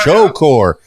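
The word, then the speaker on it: Shocore: Shore yeah Shore okay it's spelled s h o c o r e I could have gone either way on that one I know there's no e so Shore there's no W either but that's fine accelerated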